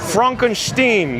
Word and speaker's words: Frankenstein: Kel B says, it's pronounced Frankenstein.